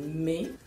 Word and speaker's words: mais: Misalnya kata me itu dilafalkan dengan me, sedangkan mais itu ya dilafalkan mais ya karena ada bentuk umlaut di sana pada huruf i-nya atau terdapat dua titik pada huruf i.